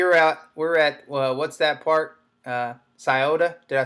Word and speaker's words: Scioto: Scioto. Did I say it right, Timmy? Yeah. Scioto.